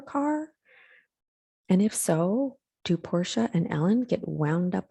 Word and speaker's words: Portia: about this i mean does ellen degeneres's wife portia spelled p-o-r-t-i-a get people misspelling her name and thinking her parents named her after a car and if so do porsha and ellen get wound up about it like